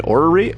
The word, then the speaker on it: orrery: You're right with your first pronunciation, orrery.